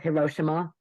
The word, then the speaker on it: Hiroshima: played like all the way like uh Hiroshima Hiroshima yeah very good pronunciation Nikki very good pronunciation I don't speak